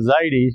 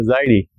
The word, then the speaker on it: Zaidi: you so to say that I'm Dr Zid is actually not very correct but our language has become like this that we pretty much have to say I'm Dr zidi sometime I feel like saying my name is Dr zidi and I have done